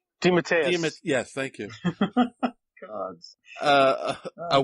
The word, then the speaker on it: DeMatteis: DeMatteis.